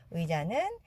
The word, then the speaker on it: 의자: 그리고 여기서 자에서 지읒은 즈도 아니고 자도 아니에요. 지와 자의 중간 정도.